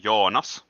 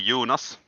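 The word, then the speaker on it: Joonas: or junas or uh in finnish my name is pronounced joanas but like everybody else has been pronouncing it it's completely okay okay so uh fyi uh in icelandic you would be actually called jonas well close enough yeah most of my scandinavian friends call me yoonas so everything works in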